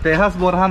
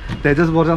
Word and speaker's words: Tejas Borja: Its pronounced as TE^AS BOR^A. The letter J is silent here. But we usually read it as Tejas Borja.